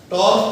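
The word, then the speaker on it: tau: Touch करता हुआ, और इसको प्रोनाउंस कैसे करना है? टॉ से. टॉर्क टॉ टॉ बोलते हैं इसको. अबे तो टाउ नहीं है.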